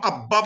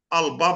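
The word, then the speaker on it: الباب: আবার যদি বলি বাব, বাব মানে দরজা, বাব বাব মানে দরজা, আল বাব উলুল বা আল, তখন আব্বাব বলতেছি না আল বাব বলতেছি, আল শামস বলতেছি না আশামস বলতেছি, ওয়াই ইজ দ্যাট, কেউ বলতে পারে কেন এরকম বলা হচ্ছে?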